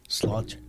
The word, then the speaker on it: Sláinte: How do you say it? Sláinte. Slaunch. Yeah. Like slauncher, or slaunch it.